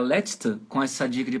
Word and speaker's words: letzte: Vocês conseguiram pronunciar letzte com essa dica de pronúncia aí que eu coloquei entre aspas? Letzte. Letzte. Deu para pegar assim? Letzte. Letra E no final, lembrando que é um som fechado, né?